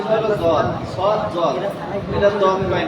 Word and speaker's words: ضاد: কঠিন হ্যাঁ তাহলে জদ জদ ভিতর থেকে আওয়াজ যেহেতু জিহ্বার গোড়া আবার দাঁতের গোড়া জদ ضاد না ঠোঁটের